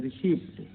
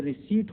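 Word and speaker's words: receipt: इसी तरह से रिसीप्ट, अब रिसीप्ट में देखिए ये रिसीट होता है, रिसिप्ट नहीं होता है, रिसीट होता है। तो रिसीट में टी साइलेंट है, रसीद, ठीक है।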